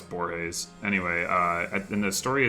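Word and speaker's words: Borges: days I think that's I say his name I know it's borays anyway I've been this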